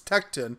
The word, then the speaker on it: Tekton: Tecton tools yeah I gotta make sure I pronounced it right I keep wanting to call it Tecton but it's Tecton as I was corrected recently yeah I've heard